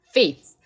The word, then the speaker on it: faith: 그리고 우리의 믿음, faith. 여기 th 발음이 상당히 많이 나오잖아요. 그렇죠? th 발음은 혀를 깨물고 발음을 반드시 해주는 연습을 해주시면 됩니다.